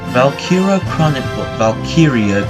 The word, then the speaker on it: Valkyria: But yeah, today, Valkyria Chronicles.